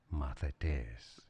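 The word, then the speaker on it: μαθητής: Here's how you would pronounce it. Mathetes.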